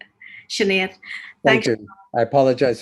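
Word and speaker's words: Sinéad: Sinead, is that how you pronounce it? Or? Yeah, it's Sinead, almost right. Sinead.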